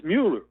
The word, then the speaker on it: Mueller: It's Mueller, but everybody calls him Mueller.